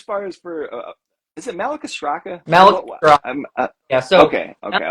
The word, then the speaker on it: Malacostraca: What as far as for is it Malacostraca? Malacostraca. Yeah. So okay. I was never pronouncing it wrong.